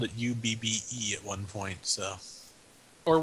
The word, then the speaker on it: Ub: was up or UB the way that's pronounced well it's UB so I go with UB oh my God he was the inventor of dubstep wasn't he you're right it is UB cuz he also spelled